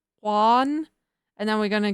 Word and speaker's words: Juan: It literally is pronounced Hua.